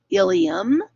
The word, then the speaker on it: ileum: um is this part that's pronounced ilium same pronunciation as we had on the the slide just before which was ileum but the ileum with an e belongs in